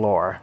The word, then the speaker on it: lore: Not some lure, some lore is what it's called. That's how it's pronounced, but anyways.